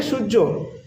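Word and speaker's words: सूर्य: এবার পরেরটা নয় নাম্বারটা দেখে নিই সান মানে সূর্য সূর্যকে আমরা নেপালিতে বলব সূরিয়া ঠিক আছে সুরিয়া সূর্যকে আমরা নেপালিতে বলব সুরিয়া প্রোনাউন্সিয়েশনটা মানে আমি কিভাবে উচ্চারণ করছি সেটা একটু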